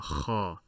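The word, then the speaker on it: خ: So the best I could think of in terms of an example to help you pronounce this letter is the spitting sound. If someone is preparing phlegm in their throat, the that sound right there, that is the kha sound.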